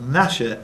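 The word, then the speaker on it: Gnasher: The G on the beginning of both Nasher and his son Nipper's name is not pronounced.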